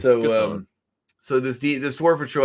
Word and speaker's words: Chthon: Chthon. Oh, okay, good. I was right on that one. Because it sounds like Cthulhu. When I was a kid, I always thought Chthon. No, it's Chthon.